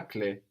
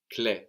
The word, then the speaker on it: clé: And clé has the E with the accent on it, which is why we hear it clé rather than cl.